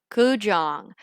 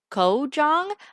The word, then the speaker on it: Kou-Jong: back to neopian flashbacks today i'm playing kujong and you may be saying wouldn't that be pronounced ko jong um yes it would be but see the thing is kujong is based off of um mahjong and the